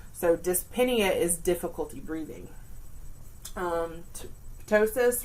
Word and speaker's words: dyspnea: But as you can see, our term has dys, dyspnea. So you do pronounce that P because we have the other letters before it. So dyspnea is difficulty breathing.